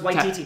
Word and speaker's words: Waititi: No, it's White DT, not White TT.